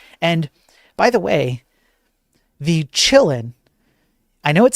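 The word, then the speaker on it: Qilin: And by the way, the Chillin, I know it says Q L I N here, but it's it's a Chinese ransomware group.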